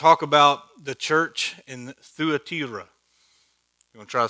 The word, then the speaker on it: Thyatira: about the church in Thyatira. You want to try to say that? Thyatira. Yeah. Thyatira. Yeah. So in Taylor County, it's Thyatira. But in Greek, it's Thyatira. You have to roll the R.